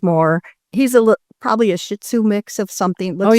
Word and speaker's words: Shih Tzu: He's a probably a Shih Tzu mix of something. Oh, you got to say it like this. You know it. Ready? Shu.